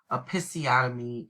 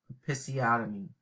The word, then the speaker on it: episiotomy: so if you um have trouble pronouncing that term episiotomy is how you pronounce it okay episiotomy and so do your